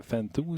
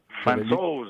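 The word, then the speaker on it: Francouz: Puis même Grubauer à Colorado, moi, Fantou, je pense qu'il s'appelle. Fantos, il faut le prononcer.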